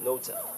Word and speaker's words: NOTA: guest by the name, is it NOTA or NOTA? it's NOTA. NOTA. Yeah. The authority. Yeah. The authority. With an accent. Yeah, hey, Yeah. I'm It needs to rhyme with Hova.